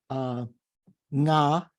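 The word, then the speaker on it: ང: So yeah, we say nga is in Tibetan, is that like NGA, right? Is the Tibetan word, just one syllable that means I, nga.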